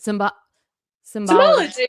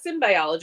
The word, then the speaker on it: symbology: Symbology. I think that's how you say it. Yeah, it's not symbiology. It's symbology, right?